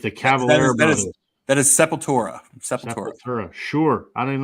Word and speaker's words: Sepultura: Did I pronounce that right? Sepultura. Sepultura. With the Cavalier brothers. That is Sepultura.